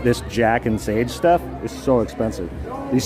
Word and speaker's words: Jack and Sage: with some company called Jack Sage. But actually, what I missed was there's a little plus, so it's Jack and Sage. So I've been saying it wrong this whole time.